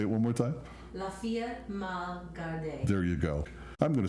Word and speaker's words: La Fille mal gardée: How does this pronounce? Say it one more time. Fille mal Gardée.